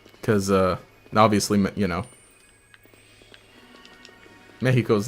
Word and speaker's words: Mexico: In Spanish, uh if you see the letter X, it makes an H sound. So that's why Mexico sounds weird to me